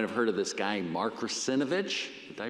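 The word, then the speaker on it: Mark Russinovich: In fact, you might have heard of this guy, Mark Rusinovich. Did I pronounce that right?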